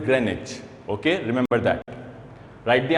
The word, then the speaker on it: Greenwich: I know you have been pronouncing it Greenwich for so long, but the correct pronunciation of this word is Greenwich.